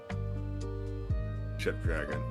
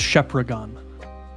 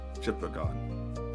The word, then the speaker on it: Shepragon: Shep dragon. Nice. Uh it's pronounced Shepragon. Shepragon. That sounds way cooler than the way I read it. Yeah. Yeah. There's only one E, so it's Shep.